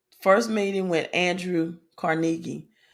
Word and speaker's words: Carnegie: First meeting with Andrew Carnegie. Some people pronounce it Andrew Carnegie. I usually say Carnegie, but I have heard Carnegie.